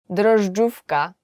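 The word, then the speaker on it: drożdżówka: So my name is and today we will learn 10 hardest words to pronounce in Polish. So are you ready? Let's go. Yeast cake. Dufka.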